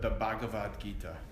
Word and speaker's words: Bhagavad Gita: You can say the Gita, but the Bhagavad Gita.